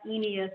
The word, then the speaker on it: Eneas: just for the record my name is pronounced Kemba enius Walden but I go by